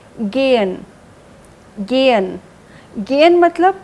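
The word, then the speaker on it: gehen: इट यस इट इज गेयन गेयन जीई एच ई एन गेयन जबी भी हम पढ़ते हैं उसका एच जो है वह साइलेंट रहता है गेन गेन गेन मतलब टू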